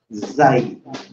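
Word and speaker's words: زاي: Ang basa sa kanya ay zay. Zay. Para siyang letter Z.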